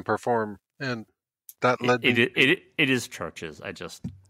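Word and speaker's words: CHVRCHES: and that it is churches i just because they spell it with a v i know it's weird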